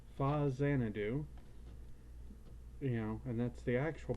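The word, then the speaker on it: Faxanadu: But this one is called Fa Xanadu, and that's the actual pronunciation. Though I've heard it called Foxanadu and 100 other things I can't even say without getting myself tongue-tied.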